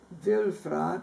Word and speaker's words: Wülfrath: It's pronounced Wülfrath, but W-U-L-F-R-A-T-H.